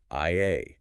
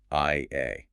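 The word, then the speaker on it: Ια: They pronounced it simply as Ia, using the 2 Greek letters, iota and alpha. No trailing consonants, no hard sounds, just the 2 pure vowels, Ia.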